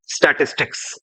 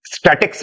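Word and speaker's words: statistics: next spelling आती है स्टेटिस्टिक्स I repeat स्टेटिस्टिक्स बहुत सारे बच्चे इस सब्जेक्ट का नाम स्टैटिक्स पढ़ते हैं जो थोड़ा गलत हुआ स्टेटिस्टिक्स आई रिपीट गंगाधर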